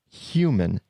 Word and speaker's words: human: human I say it human with that H I'm emphasizing it right now so you hear it human sound but he says it human-like completely dropping the H now Seth goden is